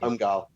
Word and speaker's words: Ymgarl: Is it Yumgarl or Yumgarl? Imgarl. No, because you're adding vowels.